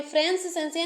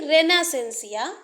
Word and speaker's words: Renaissance: है लिख लेते हैं सॉरी फ्रेंस सेंसिया नहीं रेना सेंसिया रेना सेंसिया रेना सेंसिया इसका जो